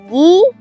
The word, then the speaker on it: Giganotosaurus: Giganotosaurus, pronounced Giganotosaurus, is Greek for giant southern lizard.